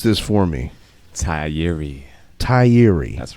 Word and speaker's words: Tigh Appiah: Tigh, you got to pronounce this for me. Tigh Appiah. That's right. Yep. Tigh Appiah.